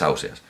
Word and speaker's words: Ausiàs: argumento concluyente no es en gandia dice ausiàs ya está pues es ausiàs no es concluyente y